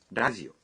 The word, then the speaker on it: ラジオ: Television dalam bahasa Inggris misalnya menjadi テレビ dan radio menjadi ラジオ Wah, R dalam radio diucapkan seperti L.